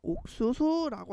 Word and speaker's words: 옥수수: 여기서 조금 헷갈릴 수 있는 단어가 뭐냐면 옥수수라고 하는 단어인데요. 기억하고 시웃이 만나도 역시 기 그 뒤에 있는 단어는 시옷은 된 소리 되기가 일어나야 돼. 그래서 옥수수 이렇게 발음을 해야 되는 거지.